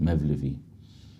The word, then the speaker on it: Mawlawi: We mentioned a scholar named Ahmed ibn Lutfillah al-Mawlawi, or as the Ottomans would pronounce it, Mevlevi, who authored a book called Faydul Haram.